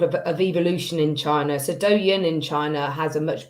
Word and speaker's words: Douyin: I understand there's a difference between Douyin, is that how I pronounce it?